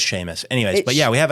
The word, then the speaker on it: Seamus: I think it's pronounced Sheamus, but it looks like it's spelled Seamus cuz I did that wrong cuz it's Irish, isn't it?